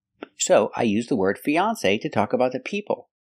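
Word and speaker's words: fiancé: those today for example these two words they're pronounced exactly the same fiance fiance fiance the same pronunciation e the long e like green beans Fe then the second syllable is on on like on and off F fiance with a long a like say or pay say Fon fiance example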